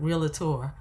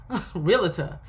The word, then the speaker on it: realtor: right it's not Pamela how many times we heard realator realtor realator so we've heard it